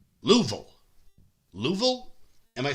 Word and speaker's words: Louisville: If you say Louisville, people in Kentucky get very upset. You got to make sure you say it correctly. Louisville.